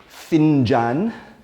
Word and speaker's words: فنجان: Okay, once again, how do you pronounce the title of the talk? So from Finjan to pinggan, and from cha to arbata.